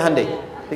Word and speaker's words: Hyundai: sana bikin Honda sini hundai Hyundai kan dibacanya Hai Ya kan sana Honda sini